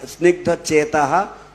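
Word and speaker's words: स्निग्धचेताः: So in 3 places there should be a H with a dot on the bottom. It should be aha, like সুপ্রণেতা, snigdha chetaha, supranetaha, and vagminam cha rasa plutam, prabhupada gataha pranaha. There it should be also a H.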